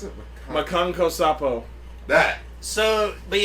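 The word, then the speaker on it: Makankosappo: How do you pronounce it? Makanko Sapo.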